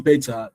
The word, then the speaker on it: beta: stress on beta uh wrongly pronounced the stress on beta is on the bet not the t because I'm not I'm